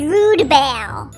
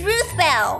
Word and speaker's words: Ruth Bell: Her name is Rudebell. Stop it, Splat, it's Ruth Bell.